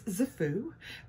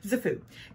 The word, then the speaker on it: KZFOO: name this brand is zafu the k is not pronounced there you go zafu and they contacted me